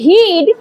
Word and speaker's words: hid: এখানে হিড বানানো আইটা শর্ট, আর হাইড বানানো আয়ের উচ্চারণটা লং। দেখ হা আইড হাইড, এখানে আয়ের উচ্চারণ আয়ের মতন হচ্ছে, তাই এখানে আয়ের উচ্চারণটা লং, কিন্তু এখানে আয়ের উচ্চারণটা ই হচ্ছে, অর্থাৎ শর্ট আয়ের সাউন্ড হচ্ছে।